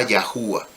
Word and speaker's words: YâHuWaH: Como le dije hace un momento, usted debe darse cuenta que aquí no dice ja o ja, sino que dice jabá, terminación ah.